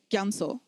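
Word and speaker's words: རྒྱ་མཚོ: Gyamso. Gyamso is actually spelled gya and so. But we pronounce it gyamso or gyamso.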